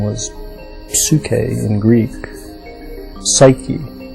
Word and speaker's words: psyche: Psyche is how we pronounce it now, and the word means soul.